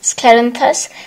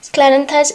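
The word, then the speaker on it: Scleranthus: and sorry it is clarence i i always mispronounce it is sclerenthus sclerenthus is given to one that is kind of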